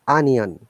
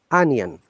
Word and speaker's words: onion: you have just mispronounced it is onion it is not o in the als all of these o letters are pronounced as a sound ah onion oven these are common words